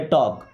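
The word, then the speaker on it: talk: Okay, टॉक टू मी, अभी टॉक word में एल यहाँ पे साइलेंट है। ओके, टाल्क नहीं पढ़ते, टॉक, टॉक मीन्स होता है बात करो।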